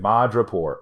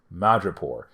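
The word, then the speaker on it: Madripoor: mutants out of madrapor I just said mod report oh my God I just mispronounced madrapore either way though you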